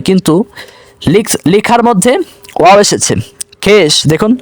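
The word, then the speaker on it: خویش: খেশ দেখুন লেখার মধ্যে ওয়াও এসেছে কিন্তু উচ্চারণের সময় ওয়াওয়ের উচ্চারণ হয় না, খেশ।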